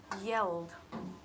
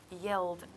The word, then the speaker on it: yelled: sound at the end this word here is yelled yelled don't pronounced e so it just goes in my